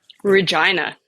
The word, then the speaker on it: Regina: Regina. It's what you wish it it were.